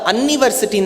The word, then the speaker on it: university: The pronunciation is not that of you. See, umbrella அப்படின்னா university தானே சொல்லணும். You start with university, which means you start with Y.